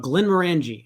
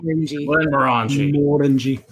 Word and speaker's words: Glenmorangie: Glenmorangie. It's Morangie because we like to pronounce everything in Texan, so it's technically Morangie, but we don't care because we're Texans. Glenmorangie. Yeah, they emphasize the more.